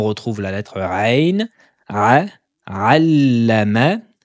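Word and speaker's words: عَلَّمَ: Allama, allama, dédoublement de la lettre lem avec le symbole de la shedda. Allama, ne dites pas alama, allama, allama, allazi, allama,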